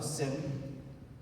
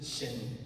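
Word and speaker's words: שֵׁם: E mais, é a única vez que aparece a palavra Sem, é nessa palavra. Na verdade, a pronúncia deveria ser Shem.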